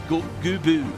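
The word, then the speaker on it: Gubal: And I am going to pronounce it Guboo, by the way.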